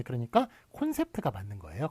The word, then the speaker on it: 콘셉트: 자, 그 다음에 요거는 시력검사 발음이에요. 어디로 뚫려 있나요? 예, 여기로 뚫려 있습니다라고 얘기하는 그런 시력검사 C를 거꾸로 한 요 발음인데요. 요거는 O로 적기로 했습니다. 예, 그러니까 콘셉트가 맞는 거예요. 컨셉트가 틀리고 콘셉트가 맞다.